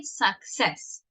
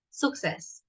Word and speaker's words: success: No, we say success. Okay? The pronunciation, el acento al final, success, not success.